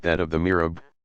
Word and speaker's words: mihrab: like that of the mihrab pronounced me RA a B niche and somewhere in